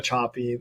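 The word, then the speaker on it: Sapi: 6 years ago by a researcher called Eva Chapi. Her last name is spelled S-A-P-I.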